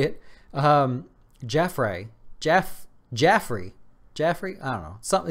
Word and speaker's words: Jaffray: with Piper Jaffray that's how you say it Jeff ray Jeff Jeffrey Jeffrey something it's not Jeffrey its